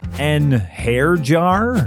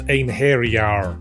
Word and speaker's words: einherjar: And those are just the ones I can pronounce. An hair jar? It's pronounced ein hairyar.